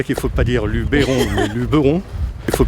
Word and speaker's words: Luberon: Je sais déjà qu'il ne faut pas dire Luberon mais Luberon. Le E ne se prononce pas en provençal, le E se prononce E.